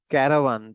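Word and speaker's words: caravan: कैरावान, ठीक है, इसको कारावान भी बोल सकते हैं, कैरावन भी बोल सकते हैं।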